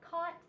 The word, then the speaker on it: caught: ought and thought and the ought and caught and they sound the same but they don't